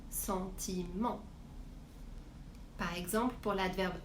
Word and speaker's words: sentiment: Par exemple, un sentiment, je prononce bien le ENT, c'est-à-dire en sentiment.